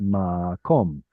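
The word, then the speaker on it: מקום: So instead of makwam, like this, which should be this pattern, instead of makwam, that kwa sound simplifies into an O, and this then becomes the beginning of the syllable. We get makom.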